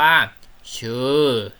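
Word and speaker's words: köra: เสียง นุ่ม นะ คือ เรา จะ ไม่ ออก เสียง ค ควาย นะ เรา จะ ออก เสียง เป็น ช้าง แทน นั่น ก็ คือ คำ ว่า เฌอ เฌอ แปล ว่า ขับ รถ นั่น เอง เนาะ เฌอ นั่น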